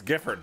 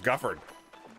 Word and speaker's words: Gifford: know that right oh that's gifford i thought it was guffard like we know a